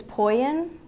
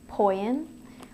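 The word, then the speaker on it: ποιεῖν: it's a Greek word I want to say it's poian p o i e i n poian which means to make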